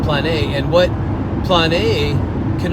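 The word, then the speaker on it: πλάνη: about the same way in Greek and it's pronounced plan a and what plan a can also mean is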